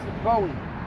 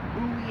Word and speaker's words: Bowie: is the rigid knives Bowie buoy however you want to pronounce that I've heard it both ways but have a look